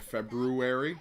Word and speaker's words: February: and over again until i said february which is the correct way to say it uh now i'm uh